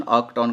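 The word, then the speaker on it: knocked: कक्ड ऑन अक्ड ऑन you will pronounce this word इस word का pronunciation अक्ड ऑन करोगे आप सो बेसिकली पोएट आपको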